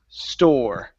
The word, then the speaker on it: store: The E that's at the end of words in English is silent. So instead of saying store, okay, the word is store.